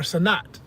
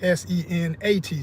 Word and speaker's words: Senet: And it was known as Senet or Senat. I've never been officially sure exactly which way you would pronounce that, but the way it's spelled, and there's two spellings. There's one is S-E-N-E-T and another one is S-E-N-A-T. So I like Senat.